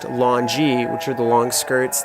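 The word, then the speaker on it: longyi: it's pronounced shat longi is supposed to be pronounced Longy which are the long skirts that money people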